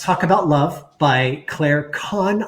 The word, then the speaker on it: Kann: There is Let's Talk About Love by Claire Kahn. I believed her last name is pronounced. It's spelled Kann, and it is a